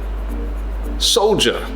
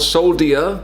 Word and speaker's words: soldier: tongue you tongue tongue soldier soldier so it's not soul dia spelling looks like so dia soldier so the D has a kind of a J sound soldier soldier the soldier